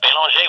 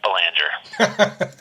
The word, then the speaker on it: Belanger: way I do Jeff bong when I'm in Canada or in France I pronounce it like the locals do because otherwise they look